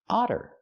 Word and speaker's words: otter: Otter. We see the double T making the fast D sound because they're between vowels. We don't say otter, we say otter.